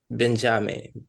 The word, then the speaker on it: Benjame: So my name is Benjame, which is basically Benjamin, but mine is written phonetically as Benjame.